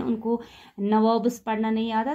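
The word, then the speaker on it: nawab: Company वाले हैं, उनको नवाब्स पढ़ना नहीं आता था। ये क्या बोलते थे? ये बोलते थे नबोब्स। ये इसको पढ़ते थे नबोब्स। तो एक्चुअली ये नवाब है, तो ये स्पेलिंग मिस्टेक नहीं है यहाँ पे।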